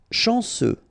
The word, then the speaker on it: chanceux: Chanceux, final X not pronounced, this C-E-U, ce, chanceux, chanceux.